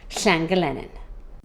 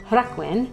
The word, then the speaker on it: Llangelynin: And before you ask why the settlement is pronounced with a G, it has to do with the way certain consonants soften in Welsh depending upon what sound comes before them.